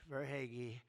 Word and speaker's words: Verhaeghe: I could only pronounce that name because I heard it so many times during the series. I said hair is right. I heard that name so much, Verhaeghe.